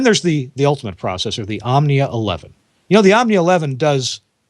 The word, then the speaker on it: Omnia: Omnia is spelled O-M-N-I-A.